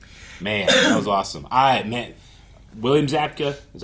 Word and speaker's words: Zabka: William Zabka, is that how you say his name?